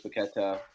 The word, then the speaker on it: Paquetá: I know this is still early, but the things they've been able to do, Luis Paqueta, or Paquetá, if you say his name, Mikel Antonio, Jared Bowen, like, they look good.